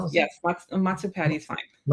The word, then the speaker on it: Matsu Patty: Is that how you pronounce? Yes. Mat Matsupati.